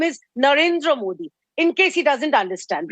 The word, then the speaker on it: Narendra Modi: allow this on your show he precisely he pronounces our honorable PM's name as Narendra Modi please tell him the name is Narendra Modi in case he doesn't understand right anyways I